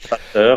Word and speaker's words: Vater: Vater, hein, le V se prononce F, hein.